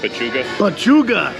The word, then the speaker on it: pechuga: How do you pronounce it? Pechuga.